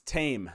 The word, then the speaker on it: Taim: a good one man it's tame not taim no I'm just kidding